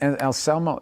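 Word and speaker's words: Anselmo: It was Phil Alsamo, is that how you say it? And Alsamo, yeah.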